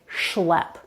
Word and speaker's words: schlep: For example, when it's followed by another consonant, then it's going to be an SH sound like schlep.